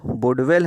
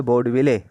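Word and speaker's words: Boudeville: इसमें जो वुडवेल हैं इन पर भी प्रश्न आता है। ये वुडवेल ना हो करके ये सही नाम है बोर्डविले। बोर्डविले हम लोग इसको प्रोनाउंसिएट करते हैं।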